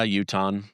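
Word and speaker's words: Utahn: You're you're a a Uton. How do you say someone from Utah? Uh Uton.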